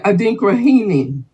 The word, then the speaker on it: Adinkrahene: Yeah, Adinkrahini. Adinkrahini. Okay, means and that's spelled ADINKRAHENE.